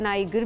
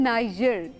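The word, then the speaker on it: Niger: ये बताइए, बहुत सारे लोग इसको प्रोनाउंस करते हैं नाइजर भी बोल रहे होते हैं, नाइगर भी बोल रहे होते हैं, बिकॉज जी से इसको लिखा जाता है। जी, लेकिन जी। इसके जो असल प्रोनाउंसिएशन है, जो सीखी जाती है चीज़, वो आके सिखानी चाहिए, वो है नाइजर।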